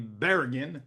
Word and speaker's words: Barragan: We are joined today by Mike Barragan, or the American pronunciation, as he told me, Barragan, but he'll clean that up.